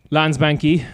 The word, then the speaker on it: Landsbanki: banks in particular uh landsbanki the the i'm pronouncing that wrong i'm sure no it's very good ah okay cool uh it doesn't have one of the th sounds in it um send